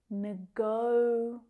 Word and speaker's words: negotiate: That stress is on the second syllable. Negotiate.